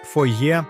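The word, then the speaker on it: фойє: хтось вимовляє фоє але правильно фоє чому так бо це запозичене слово і наголос залишається на останньому складі як у французький багато хто помилково каже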